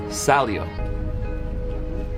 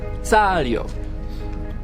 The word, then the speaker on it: Saglio: Our last name is Saglio, but it's properly pronounced in Italy as Salio. Salio.